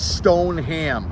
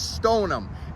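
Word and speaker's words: Stoneham: people pronounce it wrong it's not Stone Ham okay nobody wants a stone a ham anybody want to Stone a ham anybody want to get stoned while they eat some ham no nobody does it's Stone them St o n u am or I am it doesn't matter just take the ha out of there I already got a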